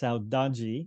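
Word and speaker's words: saudade: referring to is pronounced Saji it's a Portuguese word um and there is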